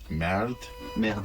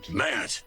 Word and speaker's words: merde: voice acting was trying to make everybody say merde and putain. All the French words, it was always lovely to try to teach them to have the right pronunciation. Merde.